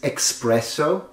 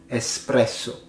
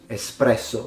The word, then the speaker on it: espresso: the Italian culture but people tend to say this espresso so with an X there's no X so we pronounce it espresso espresso the funny thing is